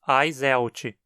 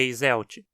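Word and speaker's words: Eiselt: a espécie está alojado Note que como sobrenome alemão a sequência e é pronunciada ai então dizemos ai seu ti e não é esmalte a gente pode traduzir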